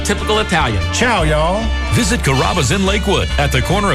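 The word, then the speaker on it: Carrabba's: People chop it up pretty good. You know, coraba kamaba kamba. It's a really easy name to pronounce. It's kaba.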